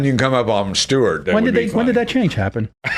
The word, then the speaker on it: Stewart: No, it's Stewart. Two syllables. No, It's Stewart. My mother, I had to